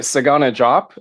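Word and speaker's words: Sagana Diop: way it was, but Sagana Jop. I took four years of French and I can't explain to you why we don't pronounce the D and Desagana drop.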